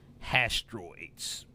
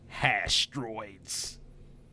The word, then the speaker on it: Hastroids: We're calling them hastroids. Hastroids. How do you spell that? Asteroids. Hastroids. So hash, H-A-S-H, and then troids, like droids, like androids, but with a T.